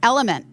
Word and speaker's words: LMNT: Guys, Element, in case you don't remember, Element, LMNT is how it's spelled.